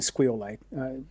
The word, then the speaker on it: SQLite: is you know which officially I've been calling Squeite mostly because of Brian you're welcome which I I think it's a it's a great pronunciation but we love we